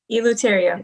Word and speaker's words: Eleuterio: tsuki i apologize i'll probably say your last name wrong everyone does tourio eloteria you got it okay sookie welcome to enlightened